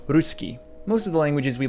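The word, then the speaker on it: русский: the russian alphabet cyrillic someone whose native language uses the latin alphabet might read this as pitchkin but it's actually pronounced ruski most of the languages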